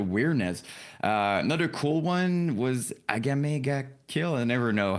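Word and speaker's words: Akame ga Kill: Another cool one was Agamega Kill. I never know how to pronounce it. Yeah. No, you got it. SS Akamega Kill.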